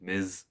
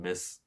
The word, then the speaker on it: Ms.: Ms., not Miss.